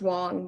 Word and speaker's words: Wang: It's actually pronounced Wong, but it doesn't. Oh, sorry. Wang. And no, it's fine. It's spelled Wang, but it's different languages.